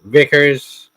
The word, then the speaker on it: Vikers: I got Vickers. I forgot his name. Vickers. Okay. Well, but it's spelled Vikers.